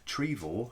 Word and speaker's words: Trevor: two miles from uh trevor or trevor as i've been told it's pronounced um yeah i was watching